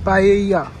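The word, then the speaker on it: paella: तो आज हम कुछ खाने आए थे यहाँ पे स्पेशल, हाउ डू यू से दिस, पाएया। सो लेकिन उसमें L like the एल is silent, you don't say द L, like when you right, you right PAYALLA बट you don't say द एल।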